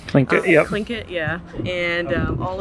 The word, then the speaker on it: Tlingit: Tlingit, yep.